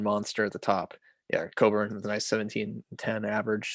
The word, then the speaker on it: Coburn: Oh, is that actually not how it's pronounced? It's Coburn.